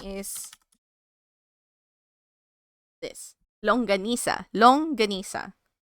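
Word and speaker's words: longganisa: Long ganisa. Long ganisa.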